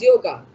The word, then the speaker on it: yoga: By the way, Shubham, is it called yog or yoga? The actual Sanskrit word is yog, but people also pronounce it as yoga. So, both the ways are fine.